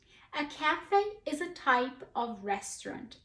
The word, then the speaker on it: café: you see a word if you know it comes from French you will pronounce the letter A or the H sound as an A a cafe is a type of